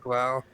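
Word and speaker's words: Blough: Blau. I think they pronounce it Blau, but it looks like it would be Blow.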